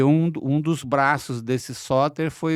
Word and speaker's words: Sóter: Eu estava vendo que o seu nome, em grego antigo, com acento na última sílaba, soter.